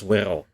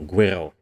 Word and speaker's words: Guerrero: Thomas Guerrero, or Guerrero. Let's go with the Spanish pronunciation.